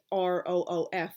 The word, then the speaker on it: roof: Like for example, the top of a building, ROOF. I've like long pronounced it rough, a roof, like and my parents